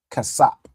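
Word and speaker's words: כסף: Ka cas casap. All right. Excellent. So silver in Hebrew is cas. All right. You got the ka sa and p and the s pa joined together.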